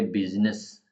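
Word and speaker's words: business: उसको सीख पाए ये बिजनेस बिजनेस फोनेटिक ऐसे लिखा जाता है बिजनेस को बिजनेस इसमें आई ऑफें साइलेंट और रिड्यूस्ड कैस ये स्पेलिंग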